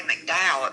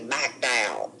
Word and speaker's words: McDowell: So, well, that's down there in McDowell, and they don't say McDowell. It's spelled McDowell. They say McDowell.